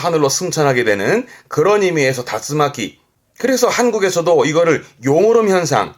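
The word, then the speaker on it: 竜巻: 그래서 발음이 다츠마키. 용권이라 함은 요런 그림 보시면 그렇죠. 회오리 바람, 뭐 미국의 그 토네이도 같은 거 그거를 다츠마키.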